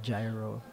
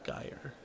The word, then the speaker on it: Gyre: Um, The Infinite Gyro, as people. it's Gyre. That's how it's pronounced.